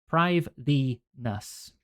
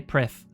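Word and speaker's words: Prifddinas: That would probably also trip up some people because that's very Welsh. Prive-Venus.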